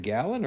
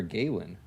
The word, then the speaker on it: Galen: of it is it gallon or Galen it might have been Galen I don't know or no I think you might be right I feel like I hear people say Galen okay I just if I read it g-a-l-e-n I'd assume Galen you assume Galen I assume gallon I don't know why